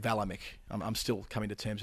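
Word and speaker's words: Vlaeminck: and strano and queensland i said vlamic i meant valamik i'm still coming to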